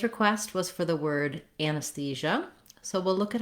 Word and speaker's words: anesthesia: First of all, looking at anesthesia, we have third syllable stress.